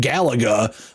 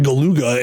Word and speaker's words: Galuga: And then that new Contra came out, which apparently is actually pronounced Project Galaga. Maybe they couldn't spell it like the video game due to copyright issues, but they have it spelled like Galuga. And so in my mind, I thought it was just Project Galuga. And then I watched the IGN video review and he was saying Project Galaga.